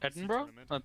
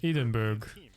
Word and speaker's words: Edinburgh: here to a new edinburgh scotland eden edenberg yeah that's edinburgh what the yeah it's pronounced edinburgh and i'm curious how